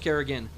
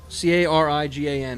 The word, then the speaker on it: Carignan: Or is it Carignan? Kerrigan, no, just Kerrigan. Carigan is how it's pronounced. Okay. I have an extra N in that name.